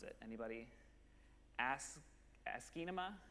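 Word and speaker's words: asciinema: pronounce it anybody ask ask anima a nice way to pronounce it that has the word cinema and ASCII in it and doesn't have ass and and other words in it but this is a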